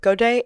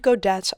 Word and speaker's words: godet: It comes from French and both godet and godette are accepted pronunciations in English.